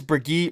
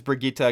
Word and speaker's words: Brigitte: all the time here I think it is Brigitta because that's what I heard Jeff say in the developer update so we're gonna go